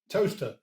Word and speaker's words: Towcester: Towcester. Toaster. Sorry? Toaster. I think you'll find that Toaster is spelled Toaster and Towcester is spelled Towcester.